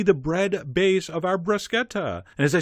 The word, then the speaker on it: bruschetta: four brush Jettas and I only said bruschetta because I've been saying bruschetta and the same people that were annoyed by you calling it bruschetta will be just as annoyed I'm mispronouncing the U but you know what